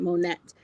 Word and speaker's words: Monet: And I pronounce it Monette.